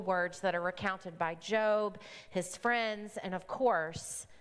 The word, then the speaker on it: Job: it looks like it's spelled job but we pronounce it job it's a book that brings with it it